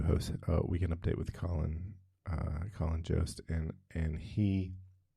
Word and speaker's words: Jost: assume that his surname, it's spelled Jost, and he pronounces it Jost, but I assume that it's Dutch, and it would be pronounced by the Dutch as Joost.